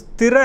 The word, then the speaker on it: ஸ்திர: ஏன்னா இந்த ஸ்திர அப்படிங்கிற இடத்துல நிறைய தப்பு பண்ணுறீங்க சகோதரிகள். திறன்னு சொல்கிறீங்க, அப்படி சொல்லக்கூடாது.